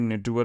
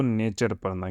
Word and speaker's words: नेचर: क्या बोला नेचर तो तुम लोग भी नेटवर मत पढ़ना इसको नेचर पढ़ना क्या पढ़ना नेचर नेचर्स